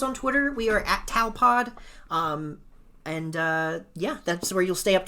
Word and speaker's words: Tawelpod: on every platform as Tawelpod. TAWELPOD. That's Tawelpod. Sounds like towel. It sounds like spelled towel. like towel. Is spelled with an A.